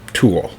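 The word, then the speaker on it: Tuathal: had a son named tool and that's spelled t-u-a-t-h-a-l but it's pronounced tool pretty close to tool so tool was known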